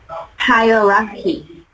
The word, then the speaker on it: hierarchy: First syllable and pronounce the word, please. Okay. Hierarchy.